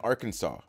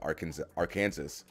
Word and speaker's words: Arkansas: Kansas and Arkansas.